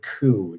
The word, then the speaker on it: coup: reminder about that also there is no P sound at the end of the word coup just a yearly reminder